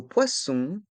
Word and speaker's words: poisson: le D est mué dans le mot poisson il y a deux sons le son o et le son on le S à la fin du mot poisson est mué un poissonnier il y